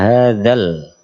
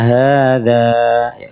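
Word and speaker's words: هَٰذَا: wirir in ya sebentar bukan Inna hadal tapi Inna hadza dari Inna Inna [Tepuk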